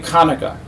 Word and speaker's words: Hanukkah: the glorious holiday of hanukkah or pronounced correctly kaneka hanukkah is the eighth